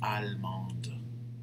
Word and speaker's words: allemande: Je suis allemande. You see how you don't pronounce the E, but the last consonant you have to pronounce in the feminine version. In the masculine version, you don't.